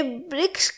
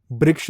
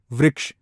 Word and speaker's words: वृक्ष: ठीक है, वैद है अगर, वृक्ष, वृक्ष नहीं वृक्ष, तो बहुत ही बेसिक चीज़ें हैं।